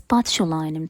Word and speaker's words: botulinum: You know, Botox is the brand name, but the full name is botulinum toxin. Yes, this is how it's actually pronounced.